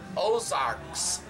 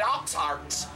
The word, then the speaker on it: Ozarks: In French is Oz, A-U-X, Arc, A-R-C-S, that's the plural form, Ozarks. That's where we got our name. All we had to do was respell it. Keep the hillbillies from calling it Oxarks. But that's how you pronounce it.